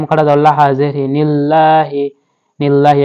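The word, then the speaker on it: لِلَّهِ: জবর লাহা জেরি নিল্লাহি লিল্লাহি এখানে আমাদেরকে আল্লাহ শব্দটা পাতলা করে পড়তে হবে হামজা ফা জবর আফ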